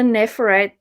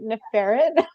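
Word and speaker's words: Neferet: uh like the the nephrite thing is that how you say her name oh my god when i was younger i always pronounced it in a ferret i'm like nah i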